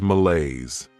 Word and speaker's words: malaise: Next is malaise. This word has 2 syllables, and the stress is on that second syllable. Malaise.